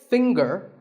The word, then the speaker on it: finger: Now, we say finger, we say the G.